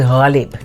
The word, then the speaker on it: Ghalib: It's Ghalib, not Ghalib, which is fine.